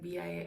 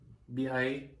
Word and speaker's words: BIA: I listen to one song by him with B.I.A. I don't know how you say it. Is it Bia? B.I.? Yeah. B.I.A.?